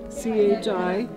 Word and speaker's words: chi: I carved out all the holes in it by hand in the middle, and the symbol in the center is chi, C-H-I, and it's pronounced chi, and that means life.